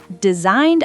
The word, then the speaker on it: designed: Wrote, designed, and phone all have weird silent consonants.